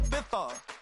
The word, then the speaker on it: Ibiza: Yeah, it's pronounced Ibiza, actually. Yeah.